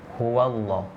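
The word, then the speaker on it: هُوَ اللّٰه: Huwallah, bukan huwallah.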